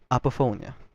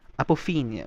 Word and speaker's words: apophenia: Psychologist calls this phenomena apophonia. Sorry, I hope I said it right. Apophenia, my bad.